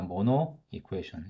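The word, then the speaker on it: Monod equation: 자, 이런 식으로 나타나는 우리 표현식을, 이런 형태로 나타나는 표현식을 우리가 모노 이쿠에이션. 여기 D는 묵음입니다. silent.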